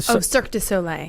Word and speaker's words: Cirque du Soleil: Let me pronounce. Amaluna. Yeah, but the Cirque du Soleil.